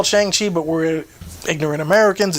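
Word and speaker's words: Shang-Chi: shanghai i i call chiang chi but we're ignorant americans it's he says it in the movie it's like sean sean like sean of the dead kind of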